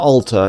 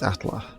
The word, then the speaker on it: Atla: Atla. Not altar. It's Atla. It's like Alter's Plateau and Atlas. Very similar word, but it's very different pronunciation.